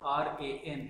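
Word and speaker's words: Rann: Friends, try to remember three letter word RAN. Its pronunciation is RAN.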